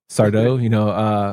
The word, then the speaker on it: Sardo: No, Mr. Just accent on the dough. Sardo, Mr.